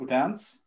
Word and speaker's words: Odense: So after Manchester United, you played for a few other clubs, but then you went to Denmark and played for Odense, like that's how you pronounce it.